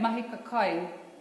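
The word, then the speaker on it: mahika kai: When you say mahi ka kai, the way that I pronounce that also celebrates our mita or kaitahu.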